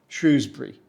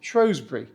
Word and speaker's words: Shrewsbury: this town is said I say Shrewsbury but you can say shury and if you go